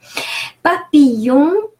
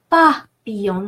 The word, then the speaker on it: papillon: Papillon, very careful here, ILL is pronounced E, it's a long E. The L is not pronounced at all, so papillon.